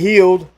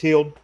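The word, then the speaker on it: Buddy Hield: Let's got go Buddy to Healed, or Hild, I don't know how you pronounce it. Healed or Buddy Hild. Hill. It's Hill.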